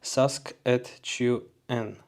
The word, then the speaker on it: Saskatchewan: You pronounce it Saskatchewan.